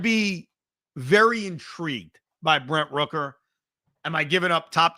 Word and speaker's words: Rooker: for him but Brett Rooker not a bad option and think about all the nicknames you could come up with because his last name rhymes with you know hooker yeah oh okay by